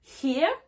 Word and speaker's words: hear: Et dans le son hear, donc le verbe écouter, hear, là je fais le son i.